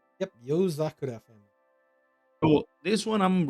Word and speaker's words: Yozakura: So the Yozakura family, is that how it's pronounced? Yep, Yozakura family.